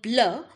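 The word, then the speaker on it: bleus: The pronunciation will again remain the same blur because the S in the end will not be pronounced in French.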